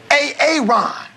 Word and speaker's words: Aaron: I'm just asking, I said it like 4 times, so why didn't you say it the first time I said AA Ron? Because it's pronounced Aaron?